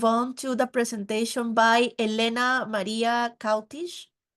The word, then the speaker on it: Elena-Maria Cautiș: So now we will move on to the presentation by Elena-Maria Cautiș. Yes, that's the correct way to say it. Thank you. That's the correct one.